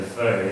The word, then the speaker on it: Fahy: We say Fahy, F-A-H-Y, the way we pronounce it in the United States.